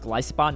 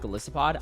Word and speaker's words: Golisopod: Okay, first off, apparently this is pronounced Golisopod, not Golisopod. I absolutely hate it, but I think it's actually the official pronunciation.